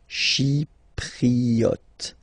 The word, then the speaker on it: chypriote: Remember this Y is pronounced like I, okay? Chypriote.